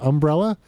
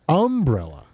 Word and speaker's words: umbrella: cement when it rains I use an umbrella they say umbrella it's the emphasis of the word yes of the beginning